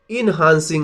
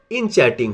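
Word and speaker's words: enchanting: फॉर me that was the most इनहांसिंग line in the play. Sorry इसका pronunciation इनचैटिंग होगा।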